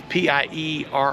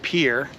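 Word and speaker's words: Pierre: Still always forget the name of his actual high school is P I E R R E. That's it. But it's pronounced Pier.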